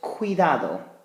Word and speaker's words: cuidado: word I have is cuidado cuidado also a hard C Sound now what we've done